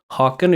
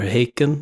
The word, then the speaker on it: Haakon: So Haakon is fine. Or Haakon is fine. Whatever you feel is most comfortable. Haakon's closer for me to be able to pronounce it without doing any gymnastics with my vocal apparatus for me.